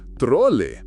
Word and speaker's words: trole: You'll be looking for a trole, pronounced trole. It's the Spanish word for a luggage cart.